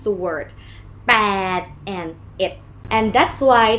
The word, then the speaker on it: แปด: You use your lips to pronounce it, huh? B sound, pàed, and it's a long sound.